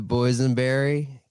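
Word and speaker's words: boysenberry: so flustered about that the boys and Berry good Lord you guys it it rhymes with poison okay Who's name in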